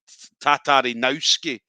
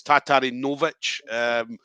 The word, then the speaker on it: Tatarinovich: um because i think he was calling him jan tatarinowski um but i think it's tatarinovich so but santiro obviously